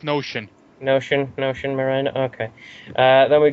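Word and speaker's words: Knowshon: I think that's pronounced Notion.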